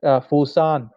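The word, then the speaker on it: Foshan: Okay, a museum dedicated to him was built actually in the birthplace in Fushan City. In Cantonese, you call it Fusan.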